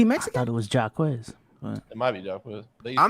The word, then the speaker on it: Jaquez: No, that's Jamie Jakes. No way. How do you pronounce his name, bro?